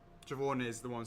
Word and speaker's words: Siobhan: Siobhan is the one spelled with a B.